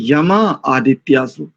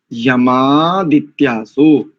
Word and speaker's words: यमादित्यासो: कई लोग क्या करते हैं, यमा आदित्यासो, यमा भी करेंगे और आदित्यासो भी करेंगे। नहीं, यमादित्यासो, दोनों दीर्घ आकार आदित्यासः इस शब्द का,